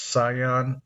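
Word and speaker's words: Ceyhan: That makes Rosneft's control of the export pipeline, which pumps Kurdish crude to I think it's pronounced Sion, on Turkey's Mediterranean coast,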